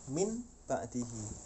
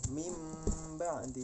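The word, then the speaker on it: مِنْ بَعْدِ: Jadi seolah-olah kita membacanya itu bukan min ba'di tapi ini mim ba'di. Suaranya seperti ini, mim ba'di. Padahal tulisannya min ba'di, ada nun matinya, tapi suara nun matinya tidak tampak.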